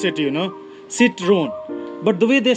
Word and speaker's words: Citroën: it's a I mean the way French people pronounce it I'm sure it's a little different you can hear it